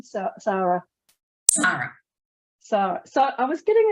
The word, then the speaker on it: Sara: and today's guest is the very very fabulous Sarah hello Sarah hi Michelle and I keep saying Sarah like it's a Sarah instead of Sarah how how do you actually say your name Sarah so so I was getting it right it's